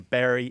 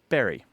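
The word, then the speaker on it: bury: up with b y for most people in the UK and the US is pronounced Barry Barry it's not it's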